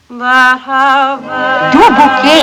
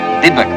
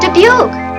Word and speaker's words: Dubuque: Dubuque, Iowa. Oh, that's pronounced Dubuque, Mama. Dubuque. Anyway, in Dubuque, he sang 2 encores.